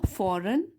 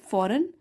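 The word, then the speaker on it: foreign: वन day emperor Akbar received a magnificent gift from a फॉरेन, इसमें जी silent है, फॉरेन ambassador, B में stress है यहाँ पे, एम्बेसडर।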